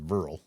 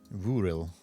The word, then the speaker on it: Vuril: I don't want it to be pronounced Vurl. Because I feel like that's how a lot of people would... Vuril.